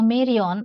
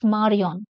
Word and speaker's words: Marion: In English, you may pronounce it as a Marion, but in French, it is Marion.